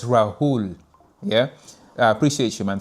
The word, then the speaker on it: Rahul: Ah, thanks for that, Raul. I appreciate you, man. Sorry, I'm I'm mispronouncing your name. It's Rahul.